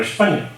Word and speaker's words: Hispania: de los psicod ant podía escribir hispania se pronunciaba España y por lo tanto